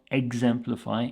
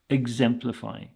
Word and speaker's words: exemplify: here is exemplify exemplify the sound at the start is more of a IG sound than an ex it's not exemplify it's exemplify and this is a